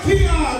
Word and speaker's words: Kijan: Kijan with the the J is silent. The J is silent. It is silent.